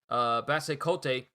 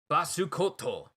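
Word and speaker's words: Basse Côte: through all of this, Basekote, Basukoto. I'm just gonna pronounce it as the Japanese enunciation has it.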